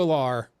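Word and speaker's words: Allar: interesting though I think drew a lawr or is it Aller I don't know how it's pronounced um but it's Aller thank you I think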